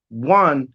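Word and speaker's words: one: Even though 1 is spelled with a vowel in front of it, it sounds like a W.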